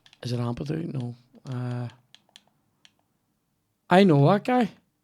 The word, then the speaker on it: Ampadu: Can't imagine that's how it's pronounced, but that's how I'm saying it. What? Is it? It's Ampadu.